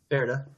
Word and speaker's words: Pferd: Ferde.